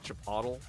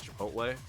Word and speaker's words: Chipotle: Even like uh Chapatle, the restaurant Chapatle, I'll uh I pronounce it the same way that you'd pronounce Aristotle there. So it can mean otherwise it's Chipotle or go the opposite way and say uh Aristotle.